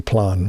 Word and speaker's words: Plan: blonde or plan sorry what do i say sleep and i just want to say plan which is the german pronunciation moving on here 19